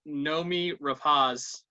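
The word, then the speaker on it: Noomi Rapace: saying it herself so unless she's lying i pronounce nomi rapaz correctly and uh she plays uh an immigrant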